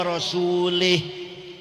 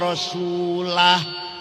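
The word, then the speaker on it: رسوله: Wa annallaha bari'um minal musyrikin wa rasulih. Allah tidak melindungi orang musyrik dan tidak melindungi Rasulullah. Salah. Yang benar bacanya wa annallaha bari'um minal musyrikin wa rasulah.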